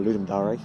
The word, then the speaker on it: Ludum: done as part of ludum or ludar apparently as it's pronounced we got the theme